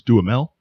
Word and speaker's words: Duhamel: At the very least, even coming up against cats he knows, Josh Duhamel, Duhamel, damn it, I'm not sure the exact proper way to pronounce that. I think it's Duhamel.